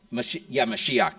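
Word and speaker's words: משיח: Mashiach. Mashiach Nagi, the Messiah, the Prince.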